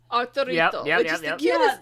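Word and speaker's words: Arturito: ones that he saw as a child, they pronounce it Arurito?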